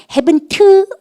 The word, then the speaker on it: haven't: 우리반들 이거 발음하실 때 여러분들 또 주의할 게 있어요. haven't been 여러분 바보예요. 왜냐하면 끝머리 트 발음은 아무도 무식갱갱하게 하지 않습니다. want to미가 want 안 그러고 want 그죠? 우리가 원하다 그럴 때 마찬가지예요. 끝머리 발음 안 하셔도 돼요.